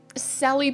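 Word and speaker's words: Celly: Sally, people call me, but they spell it C-E-L-L-Y or Cell or Cella.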